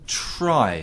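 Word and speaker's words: Tri: Monster Hunter Try. Yes. Is that how you pronounce it? I never know how to pronounce it. Tree. No, it's Try. It's Try.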